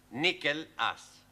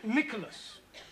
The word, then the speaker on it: Nicholas: upon a time there was a man called nickel us once upon a time there was a woman called nickel it's pronounced Nicholas all right once upon a time there was